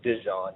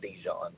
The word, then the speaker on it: Dejon: It is pronounced as Dejon, not Djon, but his nickname is Mustard in practice because Mustard obviously he's a 64 freaking corner.